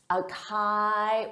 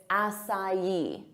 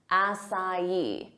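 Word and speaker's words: açaí: Our next word, a lot of native speakers have no idea how to pronounce this because it isn't a word of English origin. So they'll say acai or acai, but that's not it. It's acai, acai.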